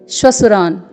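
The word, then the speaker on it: श्वसुरान्: यहाँ पर आप देखेंगे श्वसुरान में अर्धतालव्य श है, फिर पूर्ण वर्ण व है, फिर पूर्ण तालव्य श है जिसमें ह्रस्व स्वर है, फिर पूर्ण वर्ण र में आ का स्वर है, फिर पूर्ण वर्ण न है जिसमें हलंत लगा हुआ है। तो इसको बोलेंगे श्वसुरान।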